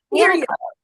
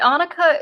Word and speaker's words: Annika: It is Annika, but Annika is the Scandinavian way to pronounce it if it makes you feel any better. Make me feel better, but how do you pronounce it? I pronounce it Annika.